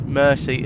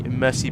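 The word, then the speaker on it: merci: So, Luxembourgish uh uses mercy as thank you, but it's pronounced differently. Emphasis on the first syllable versus French, which means which is the second.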